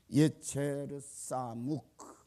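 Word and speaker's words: יֵצֶר סָמוּךְ: 예체르 사묵라고 읽는데 우리 한글 성경은 그대로 직역을 했습니다.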